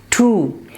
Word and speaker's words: tomb: Not tomb or not tomb. Ba sound is not pronounced. The rule is there. But one more issue, there is no short vowel sound. It's oo, long vowel sound. That's tomb. The correct pronunciation of this word is tomb.